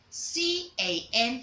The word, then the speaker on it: can: C-A-N, for example. C-A-N is pronounced as can. Can. You don't say cane because it's not having letter E at the end.